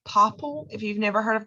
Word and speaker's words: Popl: You can also do like a digital business card, like Popple. If you've never heard of that before, that's pretty cool. Popl is how you spell it, Popl. Popple is kind of like a digital business card.